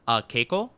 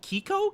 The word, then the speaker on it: Keiko: The first part sounds like Key. Oh, Kiko? Kiko?